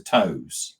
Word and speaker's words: TOWS: I'm assuming you pronounce it as a TOWS.